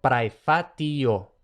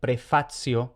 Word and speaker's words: praefatio: Y luego, en pronunciación clásica, TI más otra vocal se pronuncia TI más otra vocal. Por ejemplo, praefatio. Nada de prefacio ni nada de eso.